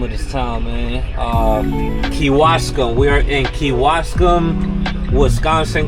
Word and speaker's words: Kewaskum: We are currently in how you pronounce the name of this town, man? Kewaskum.